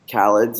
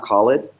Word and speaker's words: Khaled: So you actually are pronouncing Khaled's name incorrectly. It is Khaled, it's not Khalid.